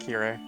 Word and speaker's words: Kirei: is in japanese means clean yeah yeah it's pronounced kirei he's a student of my father and we've